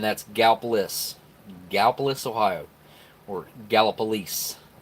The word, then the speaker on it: Gallipolis: ohio or gallop police some people say it gala police and then you hear have people that don't know how to say it that just read it and they say Galapagos or go up Gallipolis golf but Galapagos Galapagos or Gallipolis but it's it's gapless or gallop police some people say it's